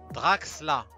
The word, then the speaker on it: Draxler: Déjà, on dit Draxla.